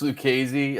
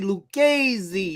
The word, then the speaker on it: Lucchesi: Arizona yeah gallon versus Luke Casey I can get behind that oh you didn't say it right you gotta say right dance server didio you gotta say like Joey Lucchesi hey lucasy out here